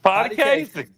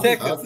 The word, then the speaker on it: Potecasi: Potty Casey. Not Potecasi. Okay. H is silent.